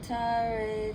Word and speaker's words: Tare: TARE, Too-tah-ray, TURE, So-hah. That is her mantra. And I'm going to spell it out for you guys, okay?